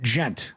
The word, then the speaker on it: djent: Rock I've heard of all the different genres is silent yeah gent gent rock or gent yeah what does that